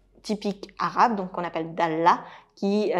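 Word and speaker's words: dallah: Et vous pourriez ramener à côté de ce café une cafetière typique arabe, donc qu'on appelle Dalla, qui s'écrit D-A-L-L-A-H et qui est également la cafetière que vous allez trouver sur les pièces de monnaie, ici aux Émirats.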